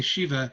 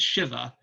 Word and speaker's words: Shiva: A lot of people say Shiva. If you actually go to India, the more correct pronunciation is Shiva.